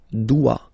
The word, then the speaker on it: dois: Okay, remember final S is not pronounced. Je dois. OI, when you combine the two, you get the sound wa wa wa.